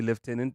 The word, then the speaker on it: lieutenant: The word that also irks me is lieutenant. And left tenant, and we say left tenant even though it's spelled And you guys Yeah.